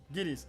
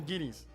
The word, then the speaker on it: guineas: Guinness is pronounced the same as guinea pig. Oh, wait, for real? Guineas. Oh, that's right. 20 guineas.